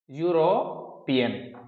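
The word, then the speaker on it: European: वो हो गए यूरोपियन, इसका प्रोनाउंसिएशन होगा ऐसे, यूरोपियन, ये है।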